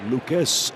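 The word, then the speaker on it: Lukes: hits in three tries it's Lucas at second base that's how he pronounce his last name it's his big L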